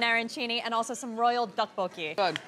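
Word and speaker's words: 떡볶이: Duck? No, tteokbokki.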